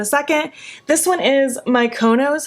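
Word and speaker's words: Mykonos: second this one is my co nose if I'm saying that correctly mikonos mikonos that's how you say it from the ACE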